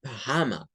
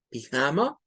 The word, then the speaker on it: pajama: encontrar que algunos dicen pajama, pajama. ¿Por qué dicen pajama? Porque están haciendo esta una schwa. Pajama, my pajama, pijama, pajama. Son dos pronunciaciones válidas, una con schwa y otra sin schwa.